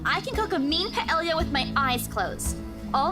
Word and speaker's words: paella: Paella. Paella. Paella. It's as if it's Spanish because like the two L's make a Y sound.